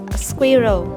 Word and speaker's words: squirrel: Squirrel. Now there's a strong hidden W sound in this word and also a very strong R. Two syllables. Squirrel. Squirrel.